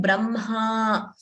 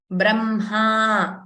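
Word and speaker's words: ब्रह्म: Okay, so again, this letter, we pronounce it as Mha. First M and then Ha. We don't say Hma. Ha is not pronounced first. So we don't say Brahma.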